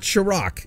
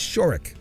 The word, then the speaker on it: Shorrock: Shorrock ran into the same thing it's not Chirac it's shirk oh that's been the that's been a part